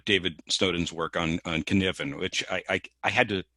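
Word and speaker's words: Cynefin: snowden's work on on kniven which i i had to i had to research how to pronounce that thing because to the american tongue that's a cine finn apologies dave if you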